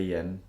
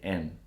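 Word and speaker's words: 円: Japan when you say when you say yen we don't actually pronounce the Y oh really yeah I'm gonna say n okay like that's what it is originally and then when it came over to English then people added a why Oh as I guess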